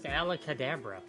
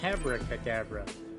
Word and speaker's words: Abracadabra: alabra alacadabra the what who the hell says alak Kadabra it's Abracadabra who the [ __